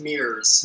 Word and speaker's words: MIRS: It's pronounced. It's Mears. Mears.